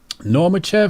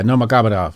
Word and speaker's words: Nurmagomedov: Because when I saw Normachev, how you say his name? Makhachev. No, not him. Khabib Nurmagomedov. Yeah, Nurmagomedov.